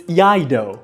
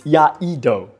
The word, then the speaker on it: Iaido: It's Iaido. It's Iaido. You need the E in between.